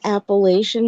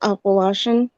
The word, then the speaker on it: Appalachian: Some people pronounce it the Appalachian Mountains, but it's actually pronounced Appalachian. Appalachian.